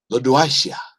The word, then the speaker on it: Lodoicea: Lodoicea, I believe is how it's pronounced.